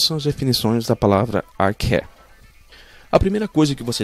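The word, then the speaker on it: ἀρχή: grega usada aqui é arque a pronúncia dela é arque E conforme o dicionário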